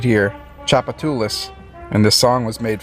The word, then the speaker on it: Tchoupitoulas: lait alright pop quiz do you know how to pronounce this word it is part of a very famous street here Tchoupitoulas and the song was